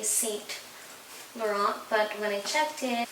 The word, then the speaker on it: Saint Laurent: it, we would say Saint Laurent, but when I checked it, the proper and the technical way to say this is you don't pronounce the N and T.